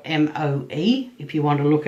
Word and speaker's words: Moe: You know, the town that I'm, the town is called Moe, which is spelt M-O-E, if you want to look it up. And unlike in The Simpsons, where M-O-E is like Moe's Bar, this is actually pronounced Moe.